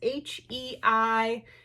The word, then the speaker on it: Heishi: So anyways, this item is a vintage, I'm not sure how you pronounce it, Heishi bead. It is Heishi.